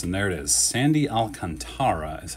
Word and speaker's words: Alcantara: bunch of inserts and there it is sandy alcantara is how i'm told to pronounce this unlike the recent sandy alcantara or the alcantras of baseball this is apparently pronounced alcantara certainly on track to win the cy young